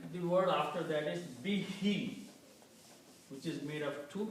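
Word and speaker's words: بِهِ: When you pronounce these together, to make easy on the tongue, we pronounce this be, he. So it is easy, both sounds are coming as kasra.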